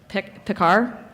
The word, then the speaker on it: Pickar: And then Justin Pickar.